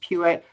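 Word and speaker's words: Puett: His last name is spelled Pue T pronounced Pewitt.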